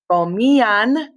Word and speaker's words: comían: All right, and then for the ellos, ustedes form, it is comían, accent on the I.